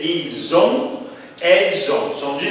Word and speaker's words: ils ont: Aqui é ils ont, elles ont.